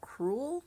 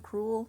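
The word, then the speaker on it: crewel: I think it's called cruel cruel CR e WL cruel kind of pronounced like cruel like Cruella de Vil but it's something that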